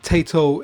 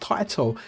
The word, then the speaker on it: Taito: I always call it Taito. It's because I'm from the UK and sometimes we call potato Taito, but apparently it's pronounced Taito.